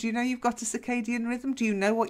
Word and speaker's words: circadian: kind of struggled over hommina I mean your pronunciation was really good well done but one probably you've not heard of before circadian the circadian rhythm circadian you want to try it ciao